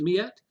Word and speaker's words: Miette: Is it you pronounce it Miette? Lindsay Yes, Miette and Paula Todd from Tumblecats.